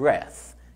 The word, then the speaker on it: breath: أفكرها لك بقى، دايما أي كلمة فيها THE بتتنطق ذا وبتبقى ممدودة breathe، لكن التانية عشان ما فيهاش E مش ما فيهاش ذا في الآخر فبنقول breath.